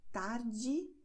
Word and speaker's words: tarde: Und weiter geht es mit einer wichtigen Information und das heißt, E am Wortende wird wie I ausgesprochen. Das heißt, tardi. Noite. Die Wörter haben wir schon gelernt und werden so ausgesprochen. Tardi, noite.